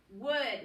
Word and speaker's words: would: we'll be capitalized i would that's one of our high frequency words from a couple weeks ago it's a little bit tricky to spell w-o-u that's silent l d i would like to